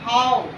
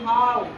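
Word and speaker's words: how: तो जैसे हम लोग देखते हैं एच ओ डब्ल्यू, हाउ, यहाँ आओ उच्चारण हो रहा है, आओ, क्योंकि ओ डब्ल्यू है तो ओ उच्चारण होना चाहिए, लेकिन इसका उच्चारण क्या हो रहा है, आओ।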